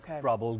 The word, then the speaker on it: Prabal: You know, you should go to CrowdRiser, and under that, you know, I have Nepal Earthquake Relief Fund and Prabal Gurung, Prabal, like, trouble with a P.